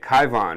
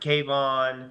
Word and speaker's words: Kyvon: So that's how I say it, Kyvon. We don't always hear how it's said. We read the paper. Yeah, Kyvon. Okay. I've heard Kayvon.